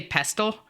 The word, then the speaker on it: pestle: many other people say pestle, and it gets me, like, worried that I'm saying it wrong. It's pestle. Thank you. Oh yeah, those are cute. I've never heard it with a silent T, but also it's a very uncommon word.